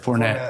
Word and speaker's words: Fournette: We have Leonard Fournette, Is that how you pronounce it? Fournette. Fournette.